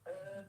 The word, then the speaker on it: Uz: and two ways you can pronounce it, Uz or Oz. Us.